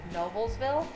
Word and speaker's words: Noblesville: Noblesville, There you go, Noblesville.